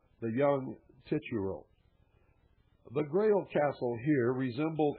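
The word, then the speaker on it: Titurel: I believe it's the young tituro. Ti t u r e l. The young tituro.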